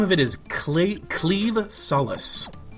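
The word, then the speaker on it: Claimh Solais: a very strange pronunciation the word that is spelled c l a i MH is actually pronounced cleave kind of like a sword cleaving thing which is kind of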